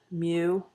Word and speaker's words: mu: u this is the greek letter mu it's pronounced mu and that's what it looks like in greek